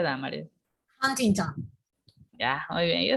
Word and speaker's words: Huntington: ¿Cómo se pronuncia Damaris? Huntington.